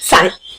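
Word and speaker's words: sign: ठीक है, ये क्या लिखा है, साइन। अब इसमें मैंने जी का तो कुछ बोला ही नहीं, ना ही गा बोला ना जा बोला, कुछ भी नहीं बोला, मैंने सिर्फ साइन बोला है, SIN।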